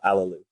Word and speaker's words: Allooloo: came on how do we how do you pronounce your last name it's uh a lelou allelú new gate or um so tell us